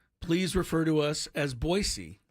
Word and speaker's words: Boise: when the Aztec host boisey not Boise boisey but I think 90% of people pronounce it boy Z and that's not correct I've been told boyy